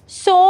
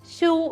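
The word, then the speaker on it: sew: എന്ന് പറയുമ്പോൾ നമ്മൾ ഇംഗ്ലീഷിൽ സോ എന്നാണ് പറയുന്നത് പക്ഷെ എഴുതുമ്പോൾ ഷൂ എന്നേ നമ്മൾ വായിക്കുകയുള്ളൂ പക്ഷെ അങ്ങനെയല്ല ഉച്ചാരണം വരുമ്പോൾ സോ എന്ന് തന്നെ പറയണം എഴുതുമ്പോൾ ഇ ആണ് യൂസ് ചെയ്യുന്നതെങ്കിലും പ്രൊനൗൺസ് ചെയ്യുമ്പോൾ ഓ സൗണ്ട് ആണ് വരുന്നത് ഓക്കേ അപ്പൊ സോ തുന്നുക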